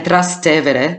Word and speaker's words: Trastevere: And Trastevere, because that's the way you pronounce it, because it's a bit of a tongue, tie for so many people. But it's... it means in Latin across the river, Trastevere, across the Tiber.